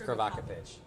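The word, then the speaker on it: Krivokapić: Great pass, Crow to Krivokapic. That's not how you say his name. It's Krivokapic. Krivokapic. It's provocative.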